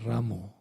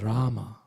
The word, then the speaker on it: Rama: i hear devotees chanting hare ramo and this is not correct the mantra is rama not ramu the once vishnu john